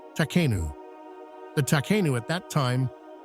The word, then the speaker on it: Takhenu: the term refers to an ancient Egyptian word pronounced takanu the takanu at that